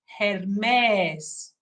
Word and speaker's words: Hermes: been deeply researching, is the correct ancient Greek pronunciation. That's a whole other story for maybe another conversation. But that would be Hermes in ancient Greek. That's the correct name of the pronunciation.